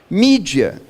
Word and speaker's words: mídia: a ver com mídia mídia é a expressão latina com a pronúncia inglesa do plural de e mails quando